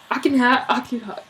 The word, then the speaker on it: Akhenaten: But then Akhenaten, that's his new name. Akhenaten. No, you're trying to make him sound German. Akhenaten. I think that's how you say it, though.